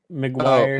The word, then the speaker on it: McGuire: And so that these things, and even things, again, to reference what, I'm looking at, how do you pronounce Mark Yeah. McWicky? McGuire.